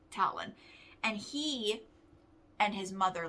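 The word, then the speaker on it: Talan: is talon gwinnick and talon is spelled t-a-l-a-n not like bird feet but talon and he and his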